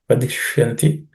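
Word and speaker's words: वदिष्यन्ति: No aspirated consonants. Just it's vadish. The ish is cerebral ish. Vadishyanti.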